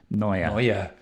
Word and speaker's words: Neue: Which Can you pronounce that, Franz, for us? Helvetica Neue. Neue.